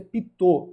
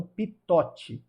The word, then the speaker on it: Pitot: E a pronúncia é Pitot, não Pitote.